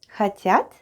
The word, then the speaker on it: хотят: Хотят is want. Пирог is pie. Они. Хотят.